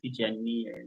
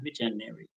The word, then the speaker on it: Visionaire: But my name is Visionaire, which is Visionaire. Okay, Visionaire, not visionary.